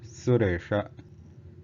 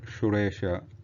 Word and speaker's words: Suresha: And then Sa, which is I think more obvious, is Sa, Suresha, Suresha, not Shuresha or Shuresha, Suresha, and then Sankarshanaha, Sankarshanaha.